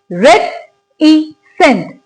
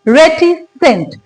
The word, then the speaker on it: reticent: चलिए इसको भी पहले प्रोनाउंस करते हैं by dividing it into syllables. Word है रेटिसेंट. रेटिसेंट. रेटिसेंट. इसमें कितने सिलेबल्स हैं? 3 सिलेबल्स हैं.